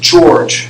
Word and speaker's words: Jorge: I played Jorge Diaz pronounced George you know like like the president and I almost laugh